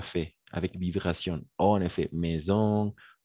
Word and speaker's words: maison: d'accord par exemple et si le S se trouve entre deux voyelles par exemple dans la dans le mot maison d'accord il y a une vibration c'est comme une abeille